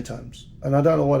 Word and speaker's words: Tomes: Well, it's Tomes. So it's T-O-M-E-S. That's Tomes.